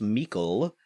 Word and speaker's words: Meikle: I have a question now from Ross Meikle, rhymes with treacle, for Baby David.